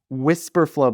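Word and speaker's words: Wispr Flow: Whisper flow but it's spelled weird. So, it's w i s p r f l o.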